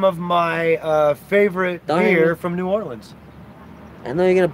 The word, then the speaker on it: New Orleans: It's Nolens, motherfucker. Nolens, all right. I got it right, I know how to pronounce shit.